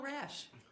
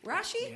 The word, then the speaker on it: Rasche: you you're welcome so let's talk about rash Rashi Rashi have to say my name right thank you